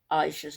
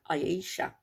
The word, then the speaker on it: Aisha: And he even told Chantal how to pronounce Aisha's name properly, because Chantal was saying Aisha. No, it's Aisha.